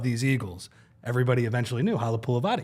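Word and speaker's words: Halapoulivaati: integral part of these Eagles, everybody eventually knew Halapulavati, right?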